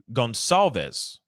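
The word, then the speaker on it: Goncalves: look at this Gonzalez Gonzalez is pronounced Gonzalez okay okay Gonzalez thank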